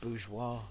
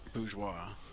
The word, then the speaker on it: Bourgeois: He playing And Joey, I believe it's pronounced Bourgeois. Bourgeois.